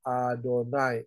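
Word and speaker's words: YHWH: he Fa he ya Yod he Fa he diucapkan dengan kata adonai ada unsur Alif di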